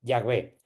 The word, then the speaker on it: Yahvé: así, pero Jehová nada, realmente ningún judío, ningún que te hablara en hebreo te diría Jehová, te diría Yahvé.